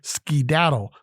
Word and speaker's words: skedaddle: The word of the day, skedaddle, 3 syllables, S-K-E-D-A-D-D-L-E, means to run off or away, to leave in a hurry.